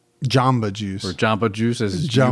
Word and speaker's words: Jamba Juice: A jumbo juice? Jamba juice. Or jamba juice, as you would pronounce it.